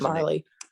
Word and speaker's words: Marley: We're not going to name names, but there's Marley. Rhymes with Harley.